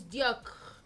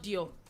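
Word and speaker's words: Dior: Yeah, then it's Diak. It's not Dio.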